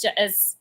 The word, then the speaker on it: Jesper: I say Jasper, and it's not Jasper. It's Jesper.